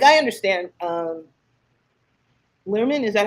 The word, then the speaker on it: Baz Luhrmann: Lerman, is that how you pronounce the director's name? Yeah, Baz Luhrmann?